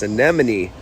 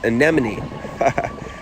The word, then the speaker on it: anemone: that in a sec check out this anemon I I said it right guys anemone now we have a